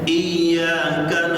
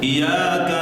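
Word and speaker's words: إِيَّاكَ: wa iyaka nasta iyanya dengan syaddah dengan tasdid dibacanya iyyaka na'budu wa iyyaka nasta'in Bukan dibaca iyaka na'budu WA iyaka nastain Kalau iya cahaya matahari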